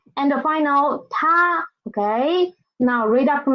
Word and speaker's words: 她: Next one, the pronunciation is the same, it is still ta, ta, but the character is a little bit different.